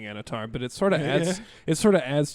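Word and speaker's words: Annatar: because we say Anatar, but theirs is like Anatar or something. Oh, they roll the R.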